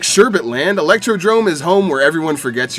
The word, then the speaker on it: Electrodrome: history like sherbet land electrodrome is home where everyone forgets your name i swear people intentionally choose to call electrodrome electrodome i mean electrodome does sound cooler you don't know how